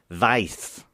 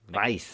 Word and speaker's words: Weisz: I reckon that would even be pronounced something like Weiss. Yeah, it's not like Right. Rachel Weisz. Weiss.